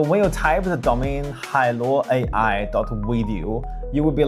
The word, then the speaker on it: Hailuo: can hear the sound of the ocean is pronounced Halo I'm Asian so you can trust me I